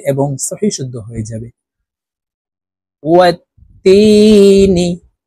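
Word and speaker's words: وَالتِّينِ: ওয়াত্তিনি, তাসদীদওয়ালা হরফ দুইবার উচ্চারণ হবে, একবার পূর্বের হরকতের সঙ্গে আরেকবার নিজ হরকতের উচ্চারণ হবে।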